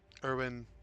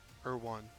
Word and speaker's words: Erwan: Also, Erwin, if you watch this back, if I'm mispronouncing your name wrong, I 100% apologize. Oh, okay. You guys kept saying Erwan. Erwan. Okay, Erwan.